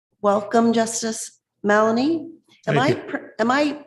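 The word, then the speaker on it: Mallonee: Welcome, Justice Malanie. Am I am I pronouncing your name uh correctly or incorrectly?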